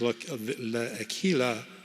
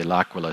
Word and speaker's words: L'Aquila: of view of the I think it's pronounced look Aquila scientists that were charged in Italy oh it's a sad story I am good friends with five of the seven of the l'aquila seven accused of manslaughter